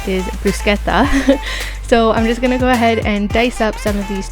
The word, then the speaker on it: bruschetta: Now we're going to get started on our bruschetta, and that's the proper pronunciation is bruschetta.